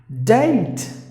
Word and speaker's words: date: Date. The letter E is silent and the A is pronounced like A.